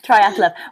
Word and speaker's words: Triathlove: I'm saying that right, aren't I? Yeah. You're saying it right, yeah. Yeah, Triathlove.